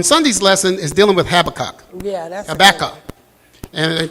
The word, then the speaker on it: Habakkuk: How do you pronounce that? Habakkuk.